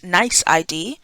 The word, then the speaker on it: NYC ID: need to create a NYC ID pronounced nice ID before they can log